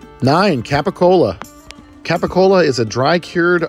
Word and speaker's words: capicola: Sopranos and wondered what Gaba goul is well that's just a New York Italian American way of pronouncing cacola next up let's roll